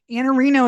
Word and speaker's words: Iannarino: Iannarino is how you pronounce it, but your Twitter is IANNARINO.